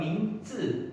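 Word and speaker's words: míngzi: Nah, untuk pinyin itu kalau Z itu biasanya dibaca dengan huruf C, ya C. Jadi kalau ZI itu akan mingzi, ya bacanya zi, ya C sama E, ya zi, mingzi.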